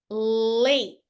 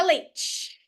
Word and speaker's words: late: é o rosto Face late late parem no t leate Ok nunca leite leite é outro coler beleza